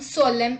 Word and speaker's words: solemn: N is not pronounced when it comes after M at the end of a word. Let's look at the examples. Autumn, hymn, column, solemn, etc.